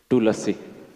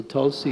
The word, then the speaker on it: Tulasi: the class award especially putting emphasis on the pronunciation so I was wondering about this tulasi Tula yes so the actually it is full so only half so Tulsi is not correct I think so because not